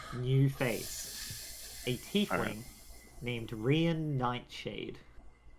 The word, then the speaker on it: Rian: It's R-I-A-N. Rain. So I'm calling him Rian. Yeah, Rian is how that sounds like it's supposed to be pronounced.